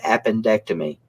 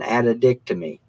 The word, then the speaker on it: appendectomy: He said the name that they often mispronounce the most is appendectomy. And he said something like, I had a lady come in here the other day and she wanted to have an addictomy.